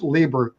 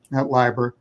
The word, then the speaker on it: Lieber: this pronunciation of pronunciation my last name is Libra Library lots of people get it wrong um Libra and secondly